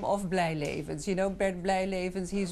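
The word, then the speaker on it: Blyleven: Have we been pronouncing Bert Blijlevens' name incorrectly all these years? You're very close, but try Blijleven.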